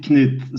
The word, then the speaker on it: Knut: We pronounce it Knut, so it's with the K, okay?